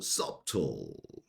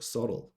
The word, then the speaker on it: subtle: 이 단어도 subtle 아니죠. subtle. B는 발음이 없습니다. subtle.